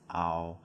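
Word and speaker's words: เอา: side but in reality it's pronounced ow so like as in cow as you see here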